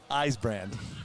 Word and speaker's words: Eisbrand: a big dude man he's try calling his name wrong all day at Superchips and then he just finally walked up he says Billy eyes brand I said got it